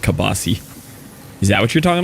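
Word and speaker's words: kielbasa: It's It's pronounced kilbasa or something, but I always called it kabasi.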